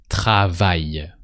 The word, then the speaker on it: travaille: On travaille. And that's it. No a sound at the end of travaille. Just on travaille.